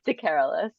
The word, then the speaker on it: DeCarolis: We have with us here, and I'm going to mispronounce it. DeCarolis. Help me. It's DeCarolis.